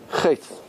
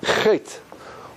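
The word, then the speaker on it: חטא: How do you say sin in Hebrew? A sin. Sin is this. Chet. Chet. Which letter is silent?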